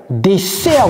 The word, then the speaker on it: dessert: le premier le dessert dessert vous voyez bien deux S mais ça se prononce comme Z et c'est desert le stress est mis sur la deuxème de Desert ici il y a